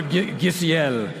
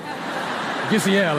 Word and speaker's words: Giselle: Is it Giselle or Giselle? Giselle, I believe, right?